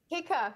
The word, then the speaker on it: Keiko: you know the basis and the premise behind Kika Naturals am I saying it right Kika yeah hika yeah okay great so tell me how this